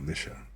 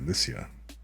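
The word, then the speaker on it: Liscia: I keep saying Lisha. I guess I should be pronouncing that Lycia.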